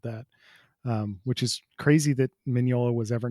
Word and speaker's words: Mignola: I just mispronounced his name. Mignola. How did I do Mignola. that? Yeah, Mignola.